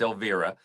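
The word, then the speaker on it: Elvira: And it's uh Elvver. Um it's it's spelled Alvara, but it's Elva.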